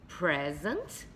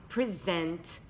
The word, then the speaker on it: present: Eu tenho present, com acento aqui no pré, e eu tenho present, com acento aqui no zent, ok?